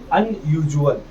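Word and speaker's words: unusual: अनयूजुअल। जब भी एस के साथ यू ए आ जाए तो एस का ज बन जाएगा जल अनयूजुअल क्या पढ़ेंगे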